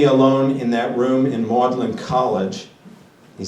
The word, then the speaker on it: Magdalen: You must picture me alone in that room in Magdalen College. He says Magdalen, spelled Magdalene, but it's pronounced Magdalen.